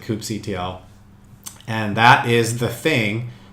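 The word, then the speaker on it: kubectl: start using coop CTL KUB e CTL people pronounce it differently I pronounce it coop CTL and that is the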